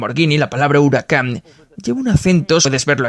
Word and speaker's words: Huracán: En la alfombrilla, el acento está en la segunda y cuando se encienden las pantallas del sistema multimedia, también aparece huracán con el acento en la segunda.